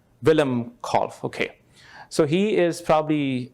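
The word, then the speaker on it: Willem Kolff: is the picture of Dr uh Wilhelm call is that the right way to pronounce Dr Miller Willem call okay so he is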